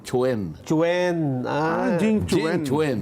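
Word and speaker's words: Quan: a Q u a n ano pero hindi kuhan ang pronunciation gan oo ang pronunciation Chwen Chwen ah Jing Chen Chen Jing Chen Chen ayun Jing Chen kaya your excellency ambassador Jing Chwen mo huwag mong sasabing kwan oo Jing Chwen Oo baka magalit.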